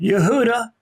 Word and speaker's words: Yehuda: that you are Judah Yehuda is the actual way you should pronounce that is that this is